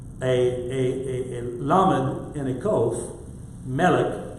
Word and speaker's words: melech: Melech, just think of MLK like Martin Luther King. It's an MLK, but depending on how you pronounce it in between is the difference between a king and a queen.